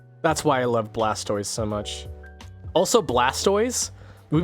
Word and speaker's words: Blastoise: how do you say how do you say the animal is based off of you'd say tortoise right toris uh his name would technically be pronounced blastis blastis not Blastoise not turtoise but tortoise